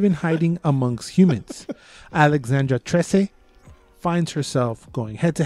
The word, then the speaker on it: Trese: Neta, sí, Trese? Trese. It's not spelled like our Trese. It's spelled like maybe Filipino Trese.